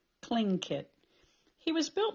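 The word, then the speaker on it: Tlingit: a clink it Indian pronouncing kinket proudly with a clicking of his tongue as if saying clink kit he was built like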